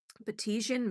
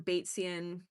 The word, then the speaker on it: Batesian: All right, last but not least, secret code name, Betisian Mimicry. Now, Betisian or Batesian, it doesn't really matter. I asked Google AI and the different pronunciation things in Wikipedia and I got both answers.